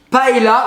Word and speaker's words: paella: que je sens que nos amis du sud vers Perpignan prononcent paella. Voilà, On dit paella. paella. Ah non mais pas... Puis non. c'est presque toute la France hein, qui dit paella.